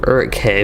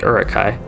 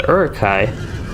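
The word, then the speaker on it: Uruk-hai: believe they are actually urukai and the h as far as i know is not pronounced all that much a little bit silent but maybe a little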